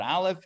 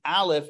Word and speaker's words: aleph: joking anyway so the aleph if you think of it as X like like silent silent letter has no sound it will take on